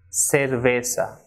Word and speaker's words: cerveza: be soft unlike English for example the person is not Zuma but it is sumo so like in English we say sir that is of the alphabet s so the same pronunciation of the same sound ripple produced in Spanish for this alphabet that is SATA so the person is sumo saragossa and cerveza she should not be Zumo zaragoza oats cerveza but sumo Siragusa